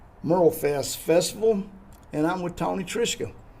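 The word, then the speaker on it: Tony Trischka: Hey, today Big Sound, Small Town is at the Merlfest Festival and I'm with Tony Trisha. How are you, Tony? I'm good. You pronounced my name correctly.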